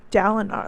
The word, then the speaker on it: Dalinar: Dalinar, that's how you pronounce his name.